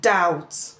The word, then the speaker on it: doubt: The written letter B followed by letter T at the end of words or syllable can be silent. That is, we find a silent B at the end of words where the B is followed by the letter T. For example, we have the word subtle, debt, doubt.